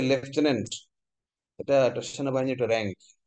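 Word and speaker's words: lieutenant: এলাই লাই মানে মিথ্যা, ইউ মানে তুমি, টেন মানে হচ্ছে 10, এন্ট মানে পিঁপড়া, মিথ্যা তুমি 10 পিঁপড়া, মানে লেফটেন্যান্ট, উচ্চারণটা হচ্ছে লেফটেন্যান্ট, এটা একটা সেনাবাহিনীর একটা র্যাঙ্ক।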